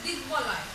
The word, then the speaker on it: দিগ্বলয়: এরপর আছে দিগ্বলয়, দিগ্বলয়। দেখো এখানে কিন্তু সন্ধিজাত শব্দে ব যুক্ত হলে বয়ের উচ্চারণটা বজায় থাকে, অর্থাৎ বয়ের উচ্চারণটা হয়।